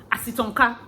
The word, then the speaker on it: Asitonka: then car that's all so you pronounce it like three english words then ka that's all as it's on ka asitonka finish simple very simple so pronounce it as it's on ka now say it's fast acitonka that's my name all right so let's